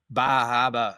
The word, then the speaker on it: Bar Harbor: In fact, I did I think up in Bar Harbor, but Bajaba, I have to say it right otherwise nobody knows what I'm talking about.